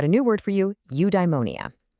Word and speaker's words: eudaimonia: Okay, I've got a new word for you, eudaimonia. It's pronounced you-die-mo-ni-a.